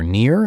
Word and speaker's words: Nir: And please note that Near is spelled N I R like his name.